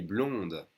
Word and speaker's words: blond: on those two colors he's blonde make sure you don't say the d otherwise it sounds like